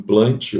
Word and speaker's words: Plantae: plantar ai na verdade quando você tem duas letras duas vogais se pronuncia só segunda né reino plante mesmo tá então reino plante